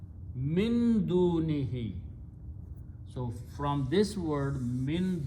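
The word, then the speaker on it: مِن دُونِهِ: And for pronunciation purpose, we pronounce this who as he also. Tajweed only. So final word is min dunihi.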